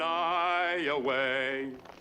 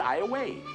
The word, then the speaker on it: Iowa: you are in iway Iowa well at least now I know how to pronounce it I always thought you folks preferred Iowa we do well he just said I away we say it now and then but we don't like anybody else to well it is Thursday